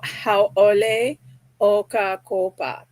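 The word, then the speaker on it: Hauʻoli ʻOkakopa: So haole oka kopa is how you pronounce happy October.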